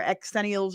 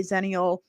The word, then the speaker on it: Xennial: '90s television shows for Xennials or Zennials. Nobody A lot of people didn't like my pronunciation. They wanted me to say Xenial or Xennial.